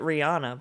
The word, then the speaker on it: Rihanna: how you say it Rihanna was that for real mhm everyone says it Rihanna but it's it's Rihanna I didn't quite hear